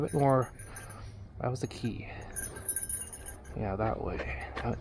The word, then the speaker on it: Quay: just like the purpose to see way it's key like non-english speakers Who who how would you pronounce q a y right that's Quake now